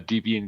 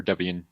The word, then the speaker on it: Debian: that if you're like I'm a devian guy or Debian depending on how you say it um and like